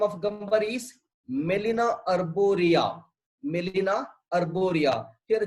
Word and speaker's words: Gmelina: And the botanical name of Gambari is Melina arborea. Melina arborea. Here G is silent.